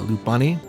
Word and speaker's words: Lopunny: take down Steelix but L uh L uh lopunny that's how you say it her name it's